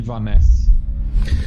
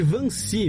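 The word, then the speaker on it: Wannsee: ocorria a conferência de Vaness. E não, na verdade é conferência de Vanci, meu caro Matias, seu alemão tá tá tá em você falou em holandês, é alemão.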